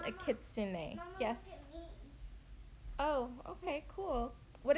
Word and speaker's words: kitsune: the pet's name you guys it's called a kitsune yes oh okay cool what is it called am I saying it right kitsune a kitsune is the name of this pet you guys I said kitsune in my last video but the correct way